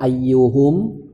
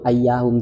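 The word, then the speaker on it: أيّهم: Contohnya itu ra'aitu ayyuhum qaimun. Tetap dibacanya ayyu, tidak ra'aitu ayyahum, tidak, karena dia mabni dhammah.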